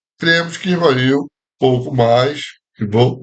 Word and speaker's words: Rivail: A semelhança de outros alunos de reconhecida capacidade que em 1817-18 foram elevados a submestre, cremos que Rivail, pouco mais, Rivaud, né, como se pronuncia, pouco mais tarde, também houvesse sido convocado por Pestalozzi para desempenhar as funções de submestre.